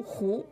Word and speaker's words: 和: 对，这个和字它是一个多音字，它在打麻将的时候表示赢的时候就读胡。